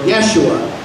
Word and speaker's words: Yeshua: up or a corner or Yeshua pronounce it either way and that means Yahweh